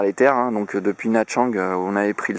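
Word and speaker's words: Nha Trang: Ah, je vais vous faire une petite présentation de Whale Island, une petite île située dans une archipel au nord de Nachang, qui s'écrit Natrang, N-H-A, plus loin, Trang, voilà.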